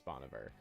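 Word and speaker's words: Bon Iver: Does anybody here listen to Bonver or like people call him a million different things? Apparently, supposedly that's the proper way to pronounce it is Boniver.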